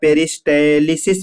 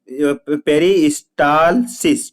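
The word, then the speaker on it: peristalsis: तो अब हम बात करेंगे, ध्यान दीजिए, पेरिस्टे क्या है बेटा, यहाँ पे लिखा हुआ था पेरिस्टेलिसिस मतलब होता है, इसको प्रॉपर प्रोनाउंसिएशन कैसे पढ़ेंगे, पेरिस्टालिस, पेरिस्टालसिस, ठीक है, पेरिस्टालसिस होता है।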